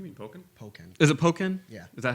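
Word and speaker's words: Pokkén Tournament: Is it Pokken? Yeah. Is that how you It's pronounce like it? Tekken and Pokken.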